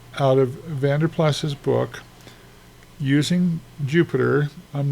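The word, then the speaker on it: Jupyter: the book he uses Jupiter. He uh uses what is called a Jupiter notebook. Notice that it's spelled kind of funny. Jupy t.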